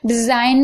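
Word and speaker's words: design: डिजाइन में भी आप देख रहे हैं जी साइलेंट है।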